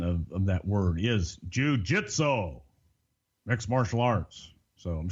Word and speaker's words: jujitsu: of all in the King's English the correct pronunciation of that word is jujitsu mixed martial arts so I'm sure that was